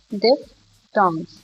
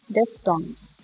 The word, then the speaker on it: diphthongs: This is pronounced this way, diphthongs. As we know that PH sound makes the noise, the voice, f.